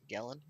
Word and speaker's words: Gellen: Jellen is not there. What? Oh my god. How did I pronounce his name the first time? Is it Gellen? Gellen. Gellen.